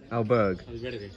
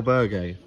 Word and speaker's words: albergue: in a how do you how do you pronounce it again albert alberg el albergue which is over there tonight watch the charlotte's